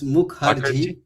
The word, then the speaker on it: Mukherjee: So, my I thought my last name is easy to pronounce. It's Mukhar.